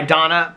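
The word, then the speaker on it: Danna: It was D-A-N-N-A. And I said, because Alex's mom's friend has a friend named Donna. And I said, you pronounce that Donna, right?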